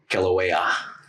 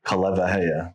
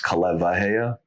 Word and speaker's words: Kaleiwahea: It's Kaleiwahea. In the Hawaiian language, when there's a W and then there's vowels on each side of it, it's pronounced as a V.